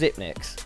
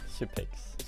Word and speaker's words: Xyp9x: that is it pronounced zipnick ziix okay zipic yeah it's because it's if you're draw a nine yeah yeah and you turn it around it's an e okay so how does